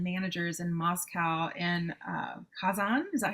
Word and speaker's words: Kazan: Another interesting thing is for several years he actually trained Russian incubator developers and managers in Moscow in uh Kazan.